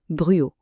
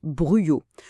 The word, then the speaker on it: Bruaux: On ne dit pas bru ni bruox mais bien bruyau. Le X final en fait, il est complètement muet.